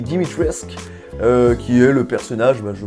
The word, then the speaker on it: Dimitrescu: Je parle bien sûr de Lady Dimitrescu ou Dimitrescu, je crois que le U ne se prononce pas, donc Lady Dimitrescu, qui est le personnage, je pense en ce moment, le plus hype autour du jeu.